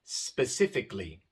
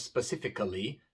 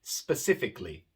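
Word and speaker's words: specifically: a el l y pero la a realmente no se pronuncia por ejemplo el adjetivo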